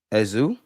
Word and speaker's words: Eze: It's pronounced Eza. Listen, my Nigerians, my Flygerians, forgive me. I'm going to do the Eze thing. Like, it's Eze to me.